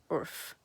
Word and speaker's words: urf: it right but it's something like orf in english it's spelled urf and that means like